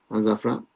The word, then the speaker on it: Al-Zawraa: For Al-Zawraa against FC Goa.